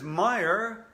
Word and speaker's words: Meyer: remember my name because meyer rhymes with fire also it will be